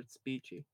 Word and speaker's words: Speechy: Isn't it speechy though? I'm calling her Spetchy because that's what it is, so it doesn't matter. Okay. It's spelled Spetchy. That's stupid that she calls her Speechy.